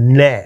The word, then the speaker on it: gnat: Now, is it of gnat or is it gnat? No, it's gnat. The G is silent.